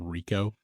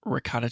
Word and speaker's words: Ricoh: you were trying to pronounce the name Rico yep I said ricot cheese yep anyway I think